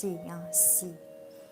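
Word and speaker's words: 囍: This character in Chinese pronounced xi, composed of two same characters, means marriage, new couple.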